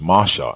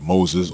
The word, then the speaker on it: Moses: you might be asking why we pronounce the name of moses as masha instead of moses or moshe first let's be clear